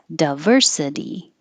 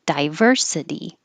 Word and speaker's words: diversity: both ways a lot so the di is not stressed so it can change to da or d but some people keep it die so both are totally fine diverse or diverse and the same for diversity or diversity february we make this